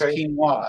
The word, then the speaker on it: quinoa: great i love it it's pronounced pronounced quinoa it's a peruvian it's like amaranth so